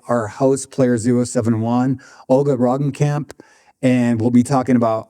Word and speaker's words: Roggenkamp: Roggenkamp. How do you say it one more time? Roggenkamp.